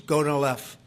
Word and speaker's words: Gonal-F: So it's Gonal-F. Is that a proper pronunciation?